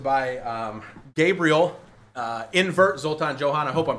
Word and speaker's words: Zoltan-Johan: um Gabriel uh invert Zoltan Johan I hope I'm pronouncing your last name right man yeah I barely can pronounce my own right it's okay it's helpful that it Rhymes and uh we're very